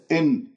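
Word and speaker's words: إنّ: إن الذين كفروا، إي كسرة الهمزة، يجب أن تحرص على إتمام الكسرة إي وليس إن إي إي إي.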